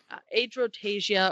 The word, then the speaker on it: Adrotagia: Adrotasia or Adrotagia. Tasia. Yeah, I don't pronounce the G Yeah, it's not a hard G.